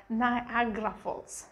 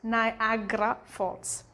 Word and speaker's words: Niagara Falls: how they usually read it but when you pronounce it it's like niagara falls niagara falls and of course when it comes to the